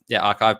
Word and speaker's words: arXiv: It's on arXiv or arXiv. Archive paper, just to spell it out.